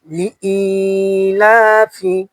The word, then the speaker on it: لإيلاف: لإيلاف لإيلاف لام زر لي همزة يا زر إي لام ألف زبر لا خرا زبر ألف فازر في لإيلاف لإيلاف আবার বলেন লিইলাফি কপেশপু